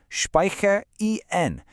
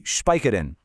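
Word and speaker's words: speichern: It's speicher en. Really hit that en sound, not a lazy speicher den.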